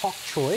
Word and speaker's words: bok choy: Bok choy? Yes, you got it. Bok choy, well done. So bok choy, it's spelled bok choy, but I think it's actually pronounced pok choy.